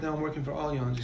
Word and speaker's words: Allianz: Have you seen the billboards where they phonetically spell out Allianz because everyone pronounces it Alliance?